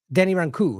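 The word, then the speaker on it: Rancourt: my interview with Denny in 2022 it's uh Denny ranu is actually how you say it it's Denny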